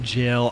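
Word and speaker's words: gaol: you oh it's pronounced jail oh my God these words g a o l looks nothing like jail but okay some of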